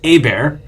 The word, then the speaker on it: Hebert: So get this, Shield of Tomorrow fans, we've been mispronouncing it this whole time. It's Hebert. Hebert.